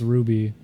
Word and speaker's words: RWBY: It's pronounced Ruby.